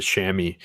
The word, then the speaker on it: chamois: a different way but we always pronounce it shammy but uh the i